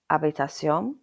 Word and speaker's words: habitación: This letter is usually silent in terms of English pronunciation. So for example, habitación means room, hola means hello, and hotel means hotel. So it's called H, but it's normally silent.